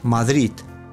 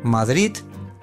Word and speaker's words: Madrid: en la última sílaba palabras que no terminan en vocal n o s tienen acento en la última sílaba madrid papel amar madrid papel amar no